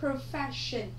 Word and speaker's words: profession: Ở đáp án C chúng ta có danh từ, nó là nghề nghiệp, mình đọc là profession, trọng âm của chúng ta dêm tiếp thứ hai.